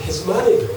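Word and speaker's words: hegemony: 근데 이제 맨 처음에 미국식 발음은 헤즈마니예요. 헤즈마니.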